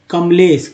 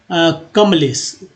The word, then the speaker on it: कमलेश: अब ए देखिए कमलेश, ए को लिखने की आवश्यकता नहीं है, लेकिन कुछ लोग लिखते हैं तो गलत नहीं है, लेकिन उच्चारण के ध्यान से देखा जाए ना तो कमालेश नहीं, कमलेश। तो आप ए नहीं लिखे, कमलेश, चूंकि लगेगा दो अक्षर टूटा हुआ आधा माँ का ही उच्चारण हो रहा है।